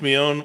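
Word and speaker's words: Moné: saying that you know Mercedes meon what how you pronounce her last name I'm sorry chat but Sasha Banks might be returning Mercedes Mon Mon Mon thank you for correcting me on that Mercedes Monae might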